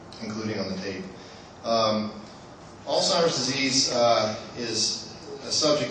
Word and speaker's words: Alzheimer's: a lot of times they'll say older's disease or they'll say uh the altimer AL timer's disease um and it's actually Alzheimer's disease this is how it's spelled uh Alzheimer's it's it's